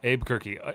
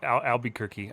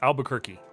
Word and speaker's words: Albuquerque: Almost gonna say uh Abu Kirk. Albuquerque. Uh so it's Albuquerque.